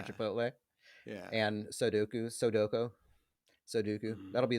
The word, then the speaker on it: Chipotle: Is it Sudoku, or is it Chipoltay? Does every person over 50 years old say Chipoltay? Yeah. For Chipotle?